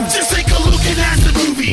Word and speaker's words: asdfmovie: Just take a look and ask the movie. Yes, that is how you say it.